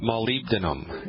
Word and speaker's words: molybdenum: by a deficiency in a strange mineral called molybdenum and let me spell that for you mo ly be like baby